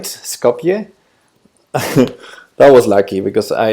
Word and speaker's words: Skopje: people will recognize it oh but I am pronouncing it right Skopje that was lucky because I I know absolutely